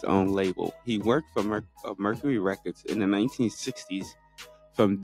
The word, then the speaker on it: Mercury: Okay, so Mercury. Okay, I want to make sure I'm saying it right, man. I don't want to, I was saying Mercy. It sounded like you were saying Mercy.